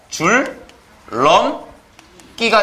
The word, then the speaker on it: 줄넘기: 줄, 럼, 끼가 되는 거죠.